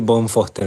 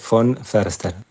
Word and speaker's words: von Foerster: Se suele decir von Foster, mi apellido, que es una adaptación acá argentina, ¿no? Porque el apellido es de origen alemán y en realidad se dice von Förster.